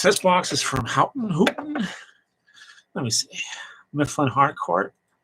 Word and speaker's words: Houghton: This box is from Houghton Hooten. Let me see. Mifflin Harcourt. How to pronounce Houghton. Oh, whatever. Houghton Mifflin. Oh, okay, Houghton Mifflin.